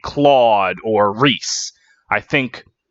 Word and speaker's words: Rhys: like say Claude or Rhys I think wait race with the wyr s not Reese rhy s so they pronounced the same and the [ __